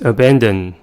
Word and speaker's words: abandon: The next word is abandon. The word has 3 syllables and the stress is at the second one.